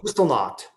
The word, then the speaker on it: Kristallnacht: Oh, Kristallnacht.